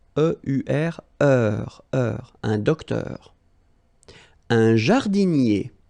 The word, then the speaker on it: jardinier: Un jardinier. Remember, I-E-R-I-E, jardinier.